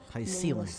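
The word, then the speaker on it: Hyacine: Hycelens, they pronounce it.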